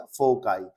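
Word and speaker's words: foci: क्या प्रोनाउंसिएशन है इसका? फोकाई।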